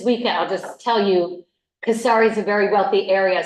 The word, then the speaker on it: Caesarea: If we go further, of course, we have Caesarea or Caesarea, as they pronounce it there.